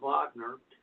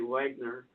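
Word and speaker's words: Wegener: German, I believe name, and it the correct pronunciation is Alfred Vagner. Some people might say Wagner.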